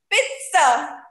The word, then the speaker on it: pizza: The next word, the favorite one, pizza. Pizza. It should never be pronounced as pizza. Pizza is a wrong pronunciation. Pizza. T ka halka sa sound aata hai.